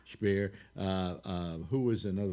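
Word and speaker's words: Speer: on eichmann guring uh spear or spear actually sounds pronounced spear uh uh who was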